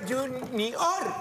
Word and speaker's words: Junior: Se llama Junior, con acento en la O.